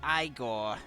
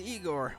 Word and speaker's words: Igor: velvet room no it's pronounced igor but they told me it was igor well they were wrong then weren't they i am delighted to